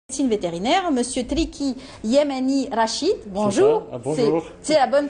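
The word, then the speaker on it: Triki Yamani Rachid: médecine vétérinaire, Monsieur Triki Yemeni Rachid. Bonjour. Bonjour. C'est la bonne prononciation.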